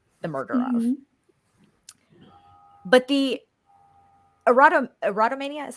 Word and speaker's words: erotomania: But the erotomania, is how you pronounce it?